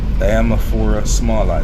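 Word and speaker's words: Diamorpha smallii: So the red plant I'm telling you about is the Diamaphora smallei. Diamaphora smallei. So let me spell that so you can get it.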